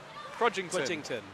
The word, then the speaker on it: Crudgington: Crudgington. Yeah, had it right the first time.